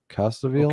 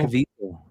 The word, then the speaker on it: Caviezel: The dude from Passion of Christ, Caviezel. Caviezel.